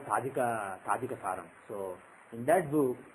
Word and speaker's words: Tajika: Raman, and some people spell it as T-A-J-I-K-A, Tajika.